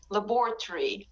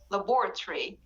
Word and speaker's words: laboratory: it a bit longer but in british accent we it is made very very short laboratory laboratory so the o in the british accent at the end before the r and y is not pronounced it is very very weak so you don't say ori you say uri laboratory and kayla said laboratory